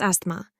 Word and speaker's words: asthma: and she developed asthma that's asthma with a silent tea affect affect by the